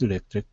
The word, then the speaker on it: electric: phone company, and his electric company. Okay, nice job. Okay, let's go to the word electric. Make sure to pronounce that TR here like a CHR, electric.